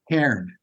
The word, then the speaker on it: Cairn: Cairn. Cairn? Cairn as in the rocks that are on a hiking path that mark the way or whatever. Okay. It's the same. It's pronounced the same way.